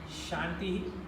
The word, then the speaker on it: shantih: third one Oberlin but at least pronounce o shantih shantih shantih he no power make the